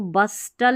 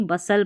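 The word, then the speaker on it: bustle: तो यहाँ पर देखिए, इसको बस्टल नहीं पढ़ेंगे, बस पढ़ दिया BUS, और TLE टल पढ़ दिया, नहीं, बसल पढ़ेंगे, क्योंकि T है ना वो साइलेंट है।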